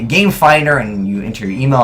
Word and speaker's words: Gamefindr: So it's called Gamefinder. It's spelled F-I-N-D-R. There's no E in Finder.